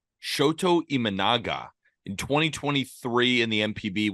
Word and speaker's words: Imanaga: how do you say his last name Shoto imanaga Shoto imanaga in 2023 in the mpb went s and